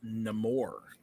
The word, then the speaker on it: Namor: Black Panther wakanda forever I believe it is pronounced namore shut up um Nick